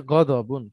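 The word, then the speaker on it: غضب: গজবের মূলত আরবিতে হচ্ছে গদবুন, গদবুন। একইভাবে আমাদের এই পাশে এসে আমাদের ভাষাতে দতটা অনেক অনেক সময় বর্গের জ্বর উচ্চারণটা হয়।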